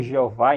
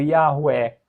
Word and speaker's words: Jeová: Então, por isso que a pronúncia Jehová ou Jeová em português, ela é legítima, tá pessoal? Muito legítima. Ela é muito mais legítima do que a pronúncia eh javé ou Yahué.